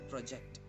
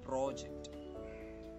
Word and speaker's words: project: We often say, "I did my project." It is wrong. The correct pronunciation is, "I did my project."